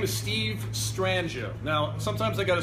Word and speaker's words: Strangio: My name is Steve Strangio. Now sometimes I got to spell it out with a J, otherwise it's Strangio or Stranglo or Strangio. So it's Steve Strangio. Steve STRANGIO. Rhymes with banjo.